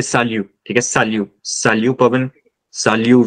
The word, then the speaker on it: salut: You can also say salut. Okay, salut. Salut Pavan. Salut Vyom. Please isko salut mat bolna ya salute mat bolna. Aap, like you're not giving a salute to anyone. It's salut. Okay?